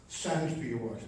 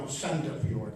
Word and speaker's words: Sandefjord: It's called Sandfjord. No, Sandefjord. That's the right way to say it.